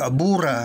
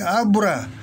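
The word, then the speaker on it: あぶら: Huwag niyong bibigkasin ko pareho ng Tagalog, abura. Hindi, abura. Kasi ang salitang Japanese, ginagabayan ng mura. Na ibig sabihin ng mura, yung pagbigkas sa bawat syllable, pareho ang haba.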